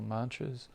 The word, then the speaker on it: mantra: transcendental Sound Vibrations or mantras uh Mantra is a a Sanskrit word comprised of two syllables man and TR man refers to the